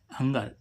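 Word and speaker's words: hunger: Last meaning क्या है हंगर एच यू एन जी आर हंगर हंगर means क्या होती है भूख तो जी के बाद क्या आ इ फिर भी इसका उच्चारण क्या निकला? ग। तो गाइज ये थे सारे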